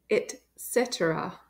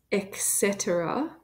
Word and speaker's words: et cetera: pronounce this word it's etc etc don't say eta it's not an X sound it's an ET sound etc etc etc please